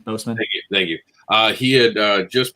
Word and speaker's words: Boseman: Yeah, a powerful moment because unfortunately Chad Broswick, Brosnan, I'm saying his last name wrong. Boseman.